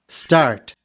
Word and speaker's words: start: start, 여기에서 ST 발음을 잘 들어보세요. 아까 전에 이 T 발음 소리를 된 소리처럼 따처럼 소리를 낸다 그랬었죠. 실제로 그렇게 들리는지. start, 지금 start라고 발음하죠. start 발음이 아니라 start라고 발음을 합니다.